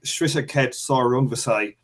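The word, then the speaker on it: Srisaket Sor Rungvisai: I'm going to say this one properly because everybody fucking doesn't pronounce this. Wisaksil Wangek Shrishakhet Sorungvasai.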